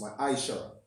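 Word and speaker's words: ma'aser: Means tenth in Hebrew and is pronounced ma'aishara.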